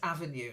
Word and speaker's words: Avenue: that's it perfect then the next one is Avenue not like a venue a venue is somewhere you go for an event Avenue is like a type of street